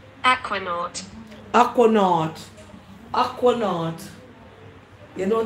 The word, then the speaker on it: aquanaut: I think I know how to spell it, but I don't know what it means. Aquanant.